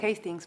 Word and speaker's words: Hastings: Hastings. Hastings. Se pronuncia Hastings porque es escocés.